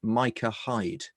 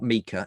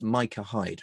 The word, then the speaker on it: Micah Hyde: for watford that is pronounced micah hyde it's not mika it's micah hide right no thanks mate